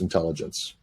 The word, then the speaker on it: Intellagents: And it's Intellagents, pronounced intelligence.